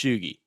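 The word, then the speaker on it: tjugo: Louis, Missouri at 8pm/20:00 (tjugi is 20 in Swedish) (the t and j in Swedish combined make "shh"). (Shoo gee is how it's pronounced)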